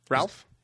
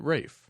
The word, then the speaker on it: Ralph: was Rafe that hm Ralph Rafe it's in Britain they pronounce it Rafe oh I didn't know